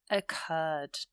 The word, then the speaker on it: occurred: A strange sequence of events occurred. Again, that emphasis is on the second syllable with the R, so we double the R and add the ed.